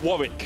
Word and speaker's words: Warwick: to lock in this Warwick, which he does. Because in England, there's a place called Warwick. Warwick. And it's spelled exactly the same.